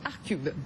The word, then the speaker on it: ArtCube: Vous êtes le fondateur de la galerie Arcube. C'est comme ça hein, qu'on prononce. Tout à fait. La galerie Arcube, située en plein cœur de Saint-Germain-des-Prés, place Fürstensberg, qui est pleinement dédiée à l'art contemporain.